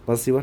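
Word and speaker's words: persevere: Sorry ये मैं pronounce गलत कर दिया था मैंने, ठीक है। परसिवर है ये, तो परसिस्टेंट इससे बनता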